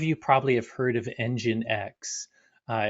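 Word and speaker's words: nginx: probably have heard of engine x uh it's it's spelled weird you know NG you you you speak out but it's it's engine X basically it's a proxy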